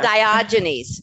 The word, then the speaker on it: Diogenes: talk about diogenes did I say it correctly diogenes yeah diogenes syndrome firstly Dr Lavoy Vaughn with over 30